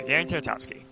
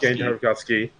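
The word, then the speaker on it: Genndy Tartakovsky: But, yeah, so Gendy Tartakovsky. Yeah, Darren Tartakovsky. Is that it? Did I say it right this time? Yes, Gendy Tartakovsky.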